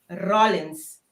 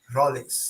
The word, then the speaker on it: Rollins: É fam, como está pronuncia corretamente? Rollins. Rollins. Ok. Rollins.